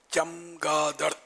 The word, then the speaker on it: چمگادڑ: یہ چمگادڑ ہے، چمگادڑ ہے، چمگادڑ ہے نا، اس کا تلفظ چے پر زبر، چمگادڑ۔ یعنی یہ جو کہا